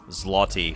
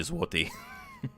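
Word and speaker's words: złoty: use the Latin alphabet will say zlotty for Polish currency, but it's actually zwi because that L with a line through it's a W sound for some baffling reason.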